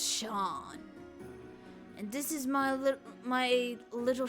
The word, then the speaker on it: Seam: The name's Seam. Pronounced Sean.